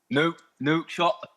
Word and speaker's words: Nouakchott: We're in the capital city of Mauritania, which is called Nouakchott. Yeah. I believe that's how it's pronounced.